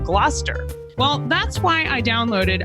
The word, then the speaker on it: Gloucester: where Shakespeare was writing, I often mispronounced some of the words that you find in the plays. Like originally, I said Glalcaster instead of Gloucester.